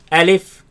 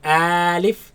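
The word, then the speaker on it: ألف: beginning the first lesson our first letter let's pronounce it together Elif Elif Elif Elif and if a leaf now this letter you are to pronounce it fast do not say Aleph and do not say a leaf say and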